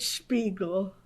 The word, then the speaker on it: Spiegel: Could we start with you saying your name the way you use it today and spell it, please? Yeah. Spiegel.